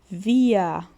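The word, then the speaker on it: wir: O próximo pronome aqui pra gente é o via. Olha novamente o R parece um azinho, né?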